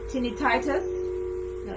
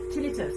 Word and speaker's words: tinnitus: you so we want to release that condition tiny titus no yeah tinnitus is that tinnitus i can never pronounce them right now do here vertigo